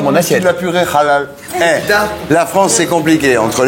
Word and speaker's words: halal: cassez les couilles avec le halal, le cachet. Mais c'est bien, Non. Tu sais que ça s'écrit halal, ça s'écrit Avec un H. H-A. Non, ça se prononce à l'espagnol.